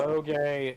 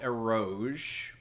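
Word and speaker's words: エロゲ: I thought it was called Eroge. No, that's how English would tell you to pronounce it. Ero, uro, ge. Those are 3 different syllables.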